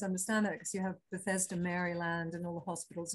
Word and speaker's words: Bethesda: you had instead of betheta you had twins bethesda sorry you had you had twins uh sorry sorry i always pronounced that wrong bethesda you're american and in